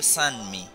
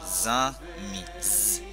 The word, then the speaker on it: zanmi: Y fíjese que no digo san, no digo sanmi, yo digo zanmi, zanmi, ok.